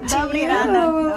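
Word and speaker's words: Добрий ранок: Dobrý ranok. Dobrý ranok.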